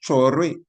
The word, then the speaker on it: Traoré: That's the same way the name is pronounced, Traoré.